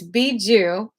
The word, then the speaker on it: Bigu: misplaced the b or a p so it's Bijou and it's it's spelled b-i-g-u and I'm going to read a